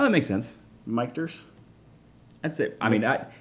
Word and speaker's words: Michter's: the louis foreman is the one that renamed uh the distillery two mikters and it's actually uh portamo porton mu port where you slam two one tormentor pormento palmendo portmanto pimento that uh of his two sons names michael and peter slam together becomes victors oh that makes sense miketers